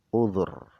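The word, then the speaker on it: عذر: Bidhammidhal, cara baca uzur itu caranya adalah bidhammidhal, dengan dibaca dhammah dzalnya, uzur. Lil ittiba, karena mengikuti ain fi'il tadi. Ainnya dibaca dhammah sehingga dzalnya juga dibaca dhammah. Uzur.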